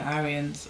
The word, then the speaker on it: Aryan: requirements and therefore they must be among the Aryans or those who have qualified themselves become Aryans